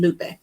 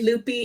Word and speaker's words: Lupe: Because you remember how people would say Loopy instead of Lupe?